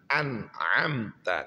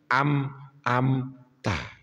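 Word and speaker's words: أنعمت: Niko nggen ayat siratalladzina an'amta kan an'amta alaihim ghairil maghdubi alaihim waladolin kadang-kadang Dia membacanya tidak anamta tapi amamta loh kok am-am tak Pi lah itulah maka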